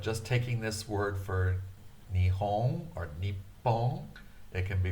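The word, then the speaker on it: 日本: Nihon is by far the most popular, but when somebody is being very formal, they will say Nippon. Nippon.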